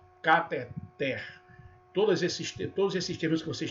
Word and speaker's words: cateter: Então, às vezes, a gente é pego pronunciando ou ouvindo alguém pronunciar catéter. Não, cateter.